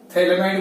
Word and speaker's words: phthalimide: Acid होता है ना, इसका पीएच साइलेंट है, थैलिमाइड बोलेंगे।